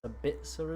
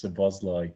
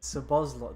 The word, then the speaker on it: Szoboszlai: It's Sabitzer, isn't it? Am I pronouncing that right? I'm definitely not. I believe it's Szoboszlai. Szoboszlai, that's the one.